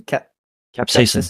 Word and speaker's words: capsaicin: Capsaicin.